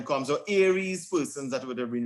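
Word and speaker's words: ARES: armature radio emergency service aries at least that's how it's pronounced and aries are licensed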